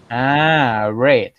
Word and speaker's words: read: อ ะ ไ ร ค รั บ read red read red red น ะ ค รั บ